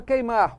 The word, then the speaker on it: queimar: Na palavra queimar, o U não é pronunciado.